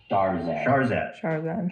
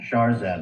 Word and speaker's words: Shahrzad: Shahrzad. Shahrzad Rafati.